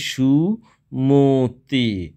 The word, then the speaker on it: সুমতি: এখানে এই মটা ওকারের মতো উচ্চারিত হবে, ময়ের সাথে যে অটি রয়েছে সে অটি ওকারের মতো উচ্চারিত হবে, সুমতি নয়, এটি উচ্চারিত হবে সুমতি।